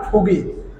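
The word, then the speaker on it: 보기: ফুগি মানে হলো উদাহরণ এটা বুগি হবে না ফুগি এই বিয়োগটা অনেক সময় প এবং ফ দুইটা মিলে উচ্চারণ প এর মত মুখ করে নেন প যেরকম মুখটা প্রথমে আগে ধরে নেন প ফুগি ফুগি মানে হলো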